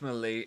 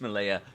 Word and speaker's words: Malaya: British Malay. Yeah, it's always. I always say it wrong. British Malaya is always in It's always in the plan.